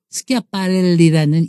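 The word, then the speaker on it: Schiaparelli: 사실은 스끼야 스끼야 이랬잖아요 스키아빠렐리라는 이탈리아 발음이 프랑스인들도 힘들었던 거예요 그래서 애칭이 줄여서 대답을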